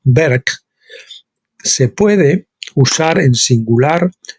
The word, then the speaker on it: Berg: una palabra masculina y se pronuncia como berg se puede usar en